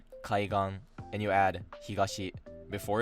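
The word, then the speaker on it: 海岸: to learn is that almost all 4 mora nouns are pronounced heiban. If you see a word with 2 kanji and 4 mora, something like gakko, kenko, or kaigan, it's most likely pronounced flat.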